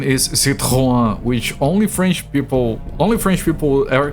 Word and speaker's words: Citroën: But the correct pronunciation is Citroën, which only French people ever call it like that.